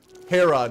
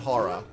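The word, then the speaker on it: Herrah: Hera, not Hara. Hera. Sorry. Hera the beast. Not spelled that way, but pronounced that way.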